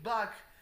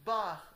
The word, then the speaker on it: Bach: You are the one you're the ones who say back, while it's actually Bach, and you are we